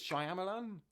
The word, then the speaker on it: Shyamalan: I think it's Shyamalan but I don't say Shyamalan Shyamalan I